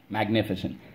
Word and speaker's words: magnificent: word you got it magnificent magne fi sent magnificent i see your rule here hey the new kid you got it rule two soft c when followed by y i or e i even heard